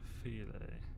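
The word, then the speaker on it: filé: File equals filet. What? That's stupid spelling to pronunciation. Really? I suppose it's not stupid. It's just French.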